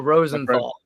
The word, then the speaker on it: Rosenthal: Uh, Rosenthal. Rosenthal.